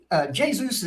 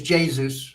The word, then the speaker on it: Jesus: Is it Jesus or Jesus? It's Jesus. It's Jesus. Okay. I'll ask Jessica. It's Portuguese. It's Jesus.